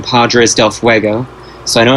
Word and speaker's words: Fuego: I have the Headstone Quest one where you hear Johnny Depp saying Padres del Fuego, so I know it's pronounced Fuego.